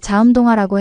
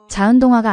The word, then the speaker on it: 자음동화: 엄마, 자음동화라고 해야지. 자은동화가 아니라.